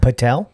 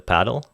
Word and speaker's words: padel: Padel. Padel. D E L. Padel. Padel. Okay. Padel. Actually, it's pronounced correctly paddle.